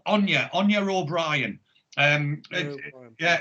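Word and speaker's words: Anie: on you but yeah anya so it's like the way it's not spelt the way it's pronounced so it's a-n-i-e on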